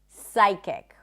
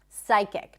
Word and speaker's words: psychic: Psychiatrist, psychic. Can you hear it? Psychic, not psychic.